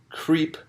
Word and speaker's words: CRP: burger Lee burglary where members of the CRP committee to re-elect the president or as you pronounced it creep yes members of creep